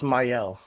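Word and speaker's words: Mielle: I think it's Myel.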